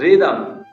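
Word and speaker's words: rhythm: रिदम, आर के बाद एच आया लेकिन उसका साउंड नहीं है, रिदम।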